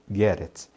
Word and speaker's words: get it: Quando você for falar essa expressão, observe que a pronúncia de get it vai ser get it. Esse T aí de get viram um R e aí emenda com it. Então diga get it.